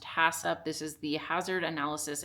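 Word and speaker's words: HACCP: HACCCP pronounced HASSUP.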